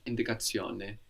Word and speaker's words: indicazione: we will change the shun to zione, which is spelled Z-I-O-N-E, zione. So indication Zione. becomes indicazione.